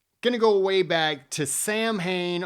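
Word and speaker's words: Samhain: go way back to Sam Hayne also pronounced as saw Wayne is a pagan religious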